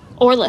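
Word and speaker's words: Oralith: Orlith. How do you spell that?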